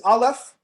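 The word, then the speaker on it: אלף: 1 in Hebrew is aleph, 1,000 is elef. All I did was shift the pronunciation.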